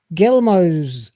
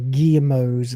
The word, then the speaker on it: Guillemots: I mean, the Guillemots, or Guillemots, if you want to pronounce it properly, clearly don't belong here.